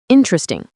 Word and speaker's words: interesting: And interesting becomes interesting. That first E just vanishes.